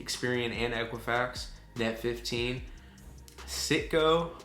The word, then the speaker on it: Citgo: Citgo or Psycho, no, definitely not Psycho.